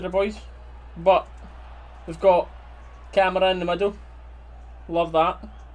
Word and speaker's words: Kamara: We should pronounce it right. It's Kamara in it.